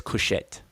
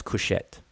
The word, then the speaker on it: Kush: Nobody says kushet. Nobody in the world pronounces kush as kushet, but it is feminine.